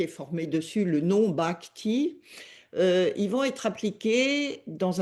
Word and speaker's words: bhakti: langue savante et ancienne de l'hindouisme, on appelle bhakti. Je peux l'épeler dans sa transcription, ça s'écrit B-H-A-K-T-I.